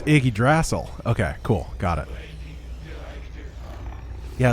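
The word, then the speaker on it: Yggdrasil: superhero stuff so i don't know how to pronounce it oh night wolves oh it's iggy drassel okay cool got it yeah that's like his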